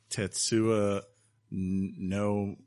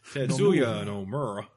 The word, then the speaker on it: Tetsuya Nomura: Tetsuya Nomura? Tetsuya. Tetsuya Nomura.